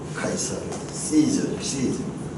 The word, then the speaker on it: 시저: 카이사르, 시저. 이 C 발음은 시저가 되고 크 발음은 카이사르.